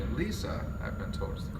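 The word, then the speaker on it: Lise: Lisa, I've been told is the correct pronunciation, died when she was hit by a car.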